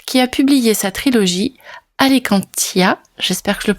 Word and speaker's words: Alicantia: Dans cet épisode spécial interview, nous allons faire la connaissance de la romancière Sophie Hall qui a publié sa trilogie Alicantia. J'espère que je le prononce bien.